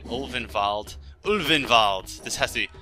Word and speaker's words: Ulvenwald: No, but you get the Uvenwald Tracker, however the hell you say his name. Ulvenwald. This has to be Ulvenwald Tracker.